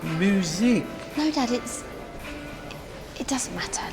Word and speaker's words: Muzak: Oh, it's Muzak. What? Muzak. Muzak. Muzak. No, so it's pronounced music.